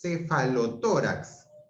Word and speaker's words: cefalotórax: Entonces, la palabra es cefalotórax. Mayor fuerza de voz en la O, en la TO, que es una palabra grave, termina en X.